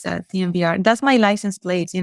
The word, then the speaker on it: TMVR: Guerrero, as the expert, do you pronounce it timber or TMVR? TMVR. Thank you.